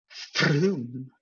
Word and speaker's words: Frome: And that's how you get places like Frome, which is spelled with an O. Frome.